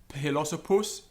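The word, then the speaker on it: philosophus: PH as in uphill, so it's aspirated, philosopus.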